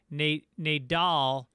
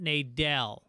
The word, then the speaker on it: Nadal: His last name is pronounced Nadal, not Nadell.